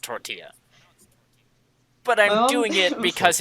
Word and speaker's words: tortilla: __ ] Tortola my mom my mom says tor Teela it's so close why because she's white that